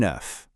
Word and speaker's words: œuf: The singular, un œuf. Hear that F sound at the end?